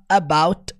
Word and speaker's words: about: Quanto à pronúncia, na fala dele é muito interessante porque quando ele fala about, o T não sai.